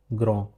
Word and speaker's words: grand: Similarly, this is pronounced as grand. D over here is silent.